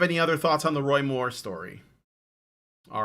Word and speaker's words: Roy Moore: i like mispronounced uh his name isn't raymore it's roy moore i have that written